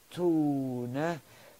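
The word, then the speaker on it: Tone: get my name from it's t-o-n-e in english we haven't looked in english i call myself tony t it's pronounced tuna in english we can't say hello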